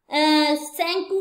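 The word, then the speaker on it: Tsangpo: Rise करती है और इसका नाम यहाँ सेंगपू है, टी साइलेंट है, सेंकू है ये ब्रह्मपुत्र रिवर की स्ट्रीम में ये जा रही।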